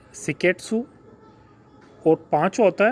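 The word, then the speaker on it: 清潔: पहला जो होता है वो होता है सीरी, दूसरा होता है सेटोन, तीसरा होता है सीसो, चौथा होता है सिकेट्सु और पांचवा होता है सित्सुके। यही इसका प्रोनाउंसिएशन होता है।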